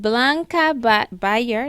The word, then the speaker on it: Blanca Beyar: So please, guys, connect with her at Blanca Beyar.